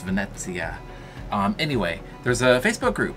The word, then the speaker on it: Venezia: maybe vinci of 42 we were told it's pronounced venezia anyway there's a facebook group for us that